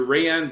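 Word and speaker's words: Rayanne: Still, I'm still gonna stick with Hayani Dos Santos. By the way to say her name. Oh, that's the pronunciation of it. Okay, that's right. Remember, the R's are H's.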